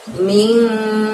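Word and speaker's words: مِنْ: Jadi bukan bunyi N yang jelas, tapi N yang agak samar. Maka kita bacanya ming, seperti itu ya.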